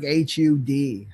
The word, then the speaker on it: Har: of the hot hot so it's spelled har but it sounds more like HUD HOD HOD HOD so